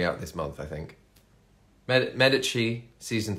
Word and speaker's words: Medici: this month I think Medici season 3 or if you're in if you don't know the Italian pronunciation Medici Medici you probably call it um but yeah the